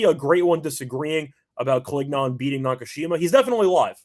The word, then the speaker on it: Collignon: Collignon.